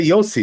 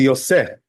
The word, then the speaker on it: Yosef: So the truth is, you know, the Ashkenazim, they say Yossi, you know, but that's not really the proper way to pronounce it. The proper way to pronounce it is really Yosef. Why is that? Because under the Samech, there's a tzere, you know, 2 dots, right?